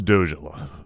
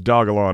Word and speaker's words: Dogelon: could do worse i think so what is dojo here i'm pronouncing it wrong what is dogalon mars elon dogelon mars is a dog-themed meme